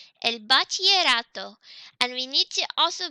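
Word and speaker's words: bachillerato: el bachelor Otto remember the Double L in Spanish makes a yes sound so it's pronounced L pas te rato and Battier Otto and Battier Otto and we need to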